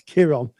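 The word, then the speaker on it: Chiron: K but it's pronounced it's spelled with a c sorry but it's pronounced with a K it's Kiron um and the wounded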